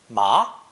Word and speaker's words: 麻: It's pronounced second tone, ma, ma, and means naturally the hemp plant.